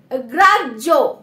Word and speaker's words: গ্রাহ্য: দেন দেখো কি রয়েছে গ্রাজ্য, বাট এখানে য তো নেই, বাট য উচ্চারণ কেন হচ্ছে, এই যে বললাম যে হয়ের সাথে জ ফলা দিলেও কিন্তু হয়ের উচ্চারণটা আমরা পাবো না।